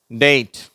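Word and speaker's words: date: மற்ற வார்த்தைகள் நான் வாசிக்கிறேன் நீங்களும் திருப்பி சொல்லுங்க வெயிட் டேட் சரியா இத டேட்ன்னு நீட் அந்த மாதிரி உச்சரிக்க கூடாது தமிழ்ல உள்ள ஏ சொல்லக்கூடாது உண்மையிலேயே ஆங்கிலேயர்கள்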